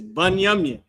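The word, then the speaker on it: בנימין: How you say that in Hebrew is Banyamin.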